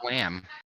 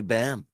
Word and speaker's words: Bam: I thought your first name Daniel. was Wham. It's actually Bam.